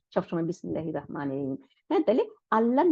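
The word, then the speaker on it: بسم الله: দেখেন আলিফ লামের আ, এই হামজাতুল ওয়াসলকে আমরা উচ্চারণ করতেছি না, আমরা বলতেছি না যে বিসমি তারপরে আল্লাহি, এটা বলতেছি না, আমরা বিসমিল্লাহ। দেখেন মিমটা গিয়ে ডাইরেক্ট লামকে ধরে ফেলছে, তাই না?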